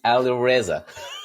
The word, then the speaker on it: Alireza: And my name is Alireza. Alireza. Put the emphasis on the wrong part.